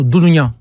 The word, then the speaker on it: Dounounian: C'est Dounounian. C'est ça, non? Dounounian. C'est bien prononcé.